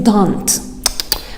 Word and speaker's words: don't: don and we say don't we don't pronounce letter t so we say don like i don't know